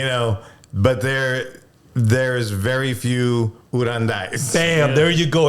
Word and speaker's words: Uranday: Uranday, right?